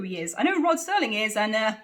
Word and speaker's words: Rod Serling: curve probably the bet I called Rod Serling Roger Sterling I now obviously and